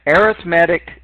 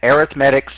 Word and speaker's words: arithmetic: of these is an arithmetic sequence some people try to pronounce this arithmetic really it's arithmetic well hopefully you thought